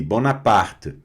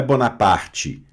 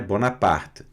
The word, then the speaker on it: Bonaparte: Que é um T bem mudinho ali no final, sem um E muito forte, tá?